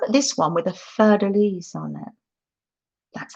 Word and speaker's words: fleur-de-lis: And look at this one with a fleur-de-lis on it. That's how you pronounce it.